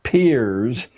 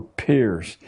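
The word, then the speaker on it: Peirce: has produced he was it's pronounced peers but it's spelled as if it were pierce charles s pierce a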